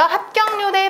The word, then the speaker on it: 합격률: 오세요 이렇게 발음 되고요 합격률의 발음은 합 그다음에 기급 비읍 받침 뒤에서는 된소리 난다라고 했었습니다 그다음에 기억과 리을이 만나서 같이 발음하기 힘들죠 합격률 이렇게 발음납니다 4번 같은 경우는 붙이다 이렇게